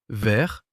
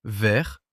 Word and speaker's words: vert: Vert, vert, vert, vert. 4 mots, un seul son.